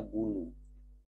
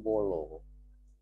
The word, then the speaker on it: bulu: Kemudian kita ingin mencontohkan U yang berikutnya, kita ingin menulis misalnya bulu. Ba tambah waw jadi bu ya. Kita juga tidak bisa membacanya dengan bolo karena kita tidak mengetahui barangkali arti bolo itu apa.